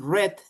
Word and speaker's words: read: And in pronunciation, remember read in present and read in past, like the color red.